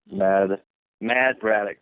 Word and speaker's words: Mad Braddox: Mad Braddock. You can remember that because it rhymes with Brad Maddox.